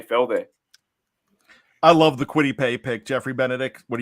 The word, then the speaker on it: Kwity Paye: to go maybe defense, and we're looking into Kwity Paye. And now I've done a little bit of the AFC West already, so this is going to come into Kwity Paye. Am I pronouncing that right?